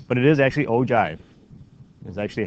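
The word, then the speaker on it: ogive: okay I've been going agiv give but it is actually o Jive is actually how it is pronounced you almost look at the G as a j almost and you know it's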